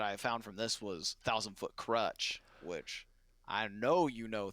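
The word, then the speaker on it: Thousand Foot Krutch: was i don't know you single-handedly ruined a thousand foot crutch with me crutch by mispronouncing their name oh the time i accidentally said a thousand foot crotch yeah jack and now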